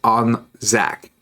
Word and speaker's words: Anzac: Also, it's pronounced Anzac. Oh, okay. I assume whenever it's uh ZAC that it's Anzac because um it's a foreign language. No, it's still in English, just Australian. Rainbow, look at this.